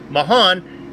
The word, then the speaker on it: Mahan: I was informed that this new driver coming into the series is pronounced Woodro Mahan in uh this disc this goes against Hunter Mayan, a golfer that I know so well. Spells exactly the same, but I'll go with Mahan.